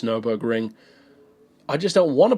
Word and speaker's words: Nürburgring: people were commenting about it not being called the Nuremberg Ring, that it's Nürburgring.